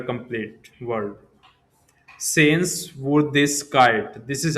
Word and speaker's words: Sehenswürdigkeit: Sehenswürdigkeit. This is how you have to pronounce. Here, you have to use umlaut above you. Then, this particular sen- uh letter complete word. Sehenswürdigkeit.